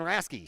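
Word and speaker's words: Hrasky: the count to Dan raske suppose his name h-r-a-s-k-y the H is silent pitch down and low inside three and one oh rasky digs back in from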